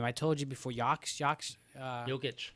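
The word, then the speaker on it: Jokić: You also have how do you pronounce that guy's name? I told you before. Jokic. Jokic.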